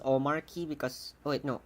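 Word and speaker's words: Omarchy: Oh, it's actually Omar Chi because it's an Arch-based distribution.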